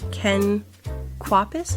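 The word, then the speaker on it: Ken Kwapis: It was uh directed by Ken Quapus.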